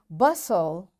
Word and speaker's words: bustle: often whistle soften hasten bustle and gourmet. There are different words but in all these words T is silent.